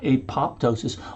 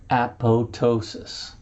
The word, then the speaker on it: apoptosis: function, which is called apoptosis. My pet peeve, the second P is silent. It's not apoptosis, although that's a great